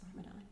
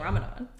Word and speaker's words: Ramadan: i think it's because in arabic it is spelled with the like the doll i think it's the doll and i think that one can be pronounced like a z sound and so when they